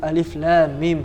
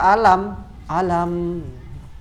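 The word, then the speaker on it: الم: berarti ketika sama membaca Alif Lam Mim itu namanya huruf muqatha'ah huruf yang terpotong-potong aliflamim sabar jangan baca alam-alam Jangan atau hamil dibaca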